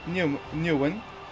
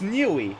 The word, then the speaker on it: Newey: Once again, Horner looks happy, as well as Newman, or whatever the hell you pronounce his name. It's Newey. Yeah, it's Newey.